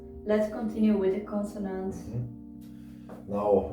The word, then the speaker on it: 나: to it we get this one is pronounced like an n and you put an ah next to it and you get no no also not in korean